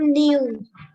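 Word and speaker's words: knew: form of नो एम न्यू very good के एन ई डब्लू न्यू के is silent न्यू नो न्यू right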